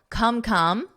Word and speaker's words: come: That should be easy for you, but just notice the come is actually a sound in the vowel. Come, come.